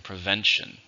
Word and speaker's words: prevention: and it's a verb how many syllables in prevents two stressed in the second prevent I took away